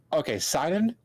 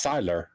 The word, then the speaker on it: Sylar: Look, Sidon, he's great. Sidon? Until they, Sidon, I can't. Wait, how did you pronounce his name? What if it's Cyrus? No, it's Sylar.